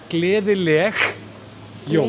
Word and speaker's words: Gleðileg jól: well to you that if you're Scottish, it's a bit easier because the soft G sound is a little bit like how we say the word loch. Yeah. It's that same sound at the end.